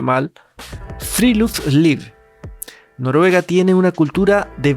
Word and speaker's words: friluftsliv: lo que ellos llaman, y perdón si lo pronuncio mal, Freeluth Noruega tiene una cultura de vida al aire libre.